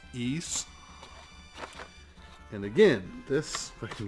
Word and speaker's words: Ys: the ease series or some people call it the wives of the ys but everything I can find it's pronounced East and again this let's